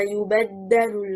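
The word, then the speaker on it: يُبَدَّلُ: The word in the first verse, ما يبدل القول. The correct performance is stressing on حركة الباء.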